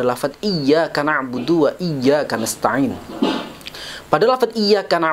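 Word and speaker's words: إِيَّاكَ: di dalam lafadz dia di dalam huruf ya ada tasjid atau dibaca dengan cara menekan seperti ada dua huruf yang satunya mati kalau kita membacanya tidak dengan bertasydid maka akan menimbulkan arti yang sangat luar biasa berbeda dari apa yang dituju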